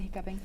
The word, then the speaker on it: hiccoughing: In the United States, it's hiccuping, but hiccoughing, we'll take it. We still pronounce it hiccuping.